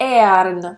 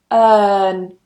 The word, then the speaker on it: earn: Earn, earn. I'm not pronouncing the R. In British English, we don't pronounce the R.